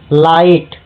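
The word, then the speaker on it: light: Ghosh लाइट जी एच क्या है यहां पे? साइलेंट है।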